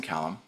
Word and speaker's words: Calame: with it my I my name is Jackson Callum I also go by C cuz it's easier oh you know and it's a Swiss pronunciation so somebody in my